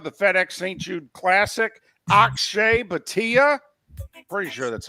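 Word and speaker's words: Akshay Bhatia: Ashe Batia. Pretty sure that's how you pronounce his name.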